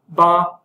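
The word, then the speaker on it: 八: is the number eight ba which sounds similar to fa which means wealth uh it's considered extremely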